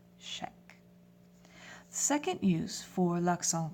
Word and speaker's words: chèque: And you'll notice that CH en français makes a sh sound. C-H-E, accent grave, Q-U-E, chèque.